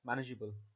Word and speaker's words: manageable: EA ble and refer and and it is pronounced as manageable the e silently let's look at the third